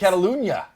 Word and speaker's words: Catalunya: There's the new track, Circuit de Catalunya, which I think you just butchered that. what? No, it's Catalunya.